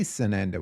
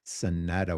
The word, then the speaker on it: Sanada: Hey, Sananda. How you doing? I completely mispronounced that. I'm going to try again. Sanada.